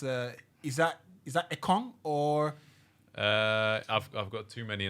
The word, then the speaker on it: Ekong: You're saying it right, Ekong.